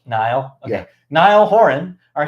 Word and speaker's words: Niall: Is it just Neil? I think it's Niall. Niall?